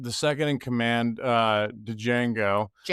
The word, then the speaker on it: Django: And you get the second in command, uh, Django. Django, the D is silent.